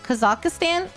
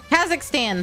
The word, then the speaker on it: Kazakhstan: Kaz Kazakistan. Kazak Kazakhstan. There we go. That's how you say it.